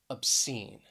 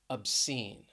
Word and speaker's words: obscene: Next is the word obscene. Obscene. Stress is on that second syllable, obscene.